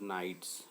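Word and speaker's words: knight: जब की fees brave नाइट्स यह नाइट ही पढ़ाएगा के साइलेंट रहता है और इसका मतलब हो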